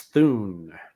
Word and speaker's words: Thun: prince of ardentia prince thune orton prince then is how they say his name interesting bit of trivia